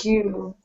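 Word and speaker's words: queue: long Q it's pronounced Q just like the first letter of the word q the the letter Q pronounced the same way all right uh okay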